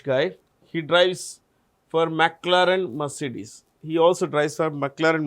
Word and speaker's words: Mercedes: You pronounce this as Mercedes, not Mercedes.